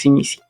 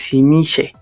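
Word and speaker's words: Tzimisce: existen, o sea, de la pronunciación que te sugiere el libro de Vampire es Simisi. Francisco nos dice que otra pronunciación que podría ser válida es simiche, ¿no? Ya más en temas como de la región de donde provienen, podría pronunciarse de esa manera.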